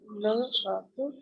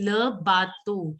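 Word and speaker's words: le bateau: Try and say O instead of U. It is O. EAU is pronounced as alphabet O, not U. Okay. Le bato o a vapor. Bhuvneshwari, how will you pronounce this? Le batu a vapor. Yes. Try and practice your O. Like EAU has to be pronounced as alphabet O and not U.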